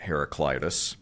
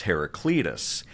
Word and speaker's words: Heraclitus: obviously you've heard millions of times uh by heraclitus first of all am I pronouncing that correctly as far as you know